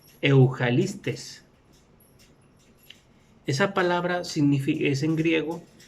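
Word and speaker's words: εὐαγγελιστής: evangelista es la 2099, que se pronuncia Eujalistes.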